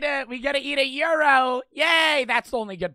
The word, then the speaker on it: gyro: they're the same mind Euros no they're it's g-y-o g-y-r-o I think they're pronounced Euro it's a type of